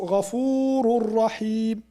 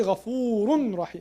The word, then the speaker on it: غفور رحيم: And for tanween also غفور رحيم. غفور غفور. We don't say غفور رحيم. We say غفور رحيم.